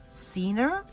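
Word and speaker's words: Ciner: about this company yeah c-i-n-e-r is actually pronounced Cena um established in 1892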